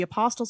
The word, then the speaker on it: apostle: Oh, the T is silent?